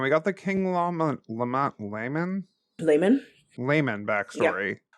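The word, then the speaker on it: Laman: I've always pronounced it lemon when reading the books. So, I guess layman is that's why I got hung up cuz I was like, what? Yeah. I mean, I guess it could be. It's one It's once again, it could be anything. It could be pronounced so many ways.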